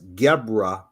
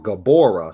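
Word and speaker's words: Gevurah: So these missiles, they act as Gebra or Gabora, some people pronounce, on the Kabbalah, the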